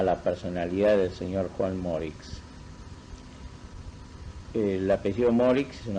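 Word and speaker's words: Moricz: primer término a la personalidad del señor Juan Morix. El apellido Morix es un apellido húngaro, magiar. Se escribe M-O acento R-I-C-Z.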